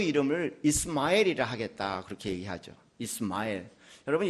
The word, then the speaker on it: 이스마엘: 그러니까 이스마엘 할 때 엘이 하나님이 지금 들어가 있는 단어예요. 그 이름이. 그다음에 이 스마엘에서 스마라는 말은 정확히 발음을 하면 이 쉐마엘이라는 단어입니다.